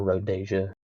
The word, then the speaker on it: Rhodesia: before that it was just called Rodesia or Rohdesia. Some people say it like that.